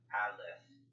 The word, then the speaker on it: Aleph: The correct pronunciation of this word is Aleph.